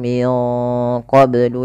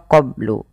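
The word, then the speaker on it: قبل: Min qoblu yastaftihun kemudian mafal qoblu ini bnya harus dipantulkan karena ia ada bacaan qolqalah maka Bacanya adalah minqoblu kesalahan yang terjadi dalam membaca Qalqalah tidak memantulkannya contoh qoblu atau menambahkan Hamzah qab Q ini menambahkan Hamzah maka dalam membaca Qalqalah tidak boleh ada dua itu tidak boleh yang pertama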